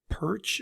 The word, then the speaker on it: Pyrch: rebooting business uh today my guest is melissa perch am i pronouncing that correctly you sure are thank you